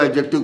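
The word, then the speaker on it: adjective: मैंने बताया था आपको एडजेक्टिव का करेक्ट प्रोनाउंसिएशन, उसमें डी नहीं बोलते हैं। अगर अपन हिंदी में लिखें तो आपके दिमाग में सेट हो जाए, तो मैं देखिए कोशिश कर रहा हूँ लिखने की। इसको आप कैसे बोलेंगे? ये ए जी, डी का कहीं पर इसमें रोल नहीं होता है, तो आप थोड़ा ये एडजेक्टिव, डी नहीं बोले जो करेक्ट प्रोनाउंसिएशन है।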